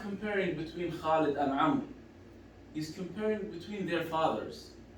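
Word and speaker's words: عمرو: than the father of Amr. What is the wow doing there between Amr and No, Amr always written with waw, just to differentiate between Amr and Umar. Oh. But it's not pronounced.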